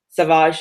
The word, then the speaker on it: Sauvage: It was Marguerite Sauvage. Is that how you say her name? Savage, yeah. Savage.